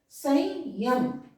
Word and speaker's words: संयम: उसी तरह से इसका जो पंचमाक्षर क्या है अंग, तो उच्चारण हम क्या करेंगे संयम, अंग हो रहा है स के बाद अंग संयम, संयम करेंगे।